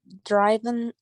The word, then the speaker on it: driven: But for this one, we say driven. Okay, driven, like drive, drove, driven.